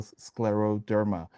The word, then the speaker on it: scleroderma: It is a hard word to say, and a lot of people pronounce it differently, but it's still scleroderma.